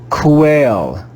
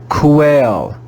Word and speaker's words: quail: of the u quail quail quail did you hear the sound of the you quail quail when the letter u follows the letter q we read it with the sound of the letter w here we have another